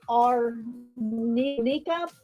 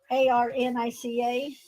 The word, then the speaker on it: arnica: our I always um I always pronounce this wrong because I always want to say R Nika but it's that's not that's not even right that's not what it is right there a-r-n-i-c-a arnica or Micah I always